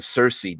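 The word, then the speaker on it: Circe: So in I believe it's Greek or Roman mythology, there was a person named Cersei, not spelled the same way her name is, but pronounced the same way.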